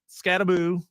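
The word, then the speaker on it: Skattebo: So just think the like Malibu rum, Scattaboo.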